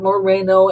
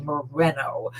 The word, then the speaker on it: Moreno: did some inquiring that it's it's not moreno and it's not mourinho it's actually moreno so if he if